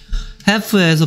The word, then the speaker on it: half: half에서 발음해서 l이 소리 안 난다는 거 half moon이 아니고 half moon입니다.